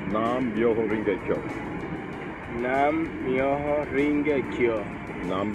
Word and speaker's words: Nam Myoho Renge Kyo: It's pronounced Nam Myoho Renge Kyo.